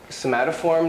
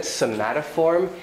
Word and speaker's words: somatoform: But whenever he said somatoform, it sounded like the Korean pronunciation of smartphone. Smartphone, smartphone. He was saying smartphone. It sounded like smartphone, the Korean smartphone. It sounded like smartphone disorder.